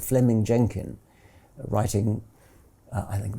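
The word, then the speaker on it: Fleeming: was simply it's written in flaming but he's pronounced fleming um fleming jenkin was simply saying manifest facts are impossible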